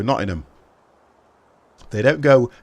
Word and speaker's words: Nottingham: not a ham a if you're from Nottingham you don't use the H if anybody pronounces Nottingham and they're from Nottingham they'll go not in him they don't go Nottingham they go not in him Oh st.